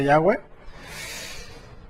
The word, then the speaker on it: Yahweh: contracción del nombre sagrado del Creador, que se pronuncia Yahweh.